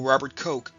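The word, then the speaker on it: Robert Koch: But it wasn't until Robert Ko, and yes, that is how you pronounce his name, characterized the enemical nature of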